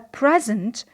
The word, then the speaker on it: present: So when it is a noun, we say a present. So in the first syllable, which is stressed in this word, we have the vowel E. However, in the second syllable, which is not stressed, we have a schwa or syllabic n.